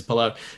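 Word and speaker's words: Palou: and he's lovely so he would never correct anyone who said his name wrong but yeah it's polo but anyway it was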